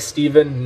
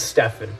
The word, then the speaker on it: Stefan: Someone just said, isn't Stefan pronounced like Steven? No, it's Stefan. It's Stefan. I know this because I asked.